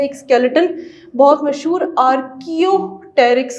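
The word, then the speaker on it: Archaeopteryx: एक स्केलेटन बहुत मशहूर आर्कियोटेरिक्स का है। आर्कियोटेरिक्स, पी यहाँ पे साइलेंट है।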